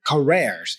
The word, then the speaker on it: careers: I mispronounced my target word, careers. It's careers, right? So you'll see here, try again. Pronounce double E for career, all right?